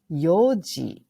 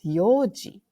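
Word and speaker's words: 四時: into a question sentence four o'clock is somewhat irregular Yoji Des Yoji okay Yoji is like just like yonindes but remember if you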